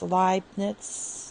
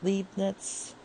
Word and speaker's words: Leibniz: rule we're kind of using this leibniz it's pronounced leibniz not leibniz so um let's get started and for this